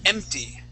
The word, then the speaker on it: empty: Now this word here is empty. Empty. Good. When you had read the word, you had said empty, adding an H in front.